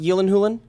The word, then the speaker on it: Gyllenhaal: Jake Gyllenhaal, who's actually pronounced Yillenhulen. That's actually how it's No, pronounced. Is it Yilin Hulin? Yeah, that's what he said Yillenhulen? on Conan, I believe. And it's Jake Gyllenhaal.